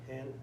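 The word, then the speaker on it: ἕν: Ok, hen, esmen. ¿Por qué hen? Porque tiene espíritu rudo.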